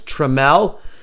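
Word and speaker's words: Trammell: couple of times so our job says it's tremel spelled t-r-a double m e double l yes tra Mel okay so they spell it they spell it twice and the guy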